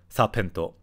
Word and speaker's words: サーペント: Yeah, it's interesting, they just put it in katakana, so it's just pronounced sapento versus serpent.